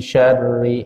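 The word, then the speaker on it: شر: Kemudian ayat yang kedua, min syarri, dari keburukan. Syarri, sya pakai sya, Pak, itu artinya buruk. Jamaknya syurur, keburukan. Jangan keteker dengan kata surur. Syarri atau syurur. Nah, ini maknanya keburukan.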